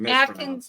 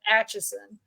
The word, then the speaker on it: Atchison: called it Atkins. Mispronounces a lot. He called it Atkinson and something else, and finally near the end he got it down to Atchison.